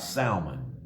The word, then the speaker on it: Salmon: neshon and nashan begot salman salmon begot boaz so now we know who boaz father was that was salmon or salma is the way it was actually pronounced in the hebrew sound begot boaz boaz begot